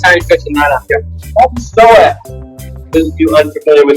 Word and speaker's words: psoas: For those of you who are unfamiliar with what the psoas is, there's a great website called Google, and you can Google psoas, spelled with a P.